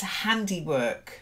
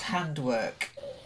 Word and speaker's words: handiwork: um the next one it's handiwork not hand work handy work candy work yeah so if it's somebody's